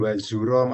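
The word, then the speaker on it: وَزُورًا: Kalau di sini disebutkan wazuro adalah dusta. Ya, wazuro pakai zai. Pakai za ya.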